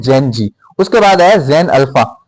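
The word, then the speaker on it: Gen Z: जी यानी जेड, इसका प्रोनाउंसिएशन जो है इंग्लिश में जी कहते हैं, तो इनको बोलते हैं जेन जी।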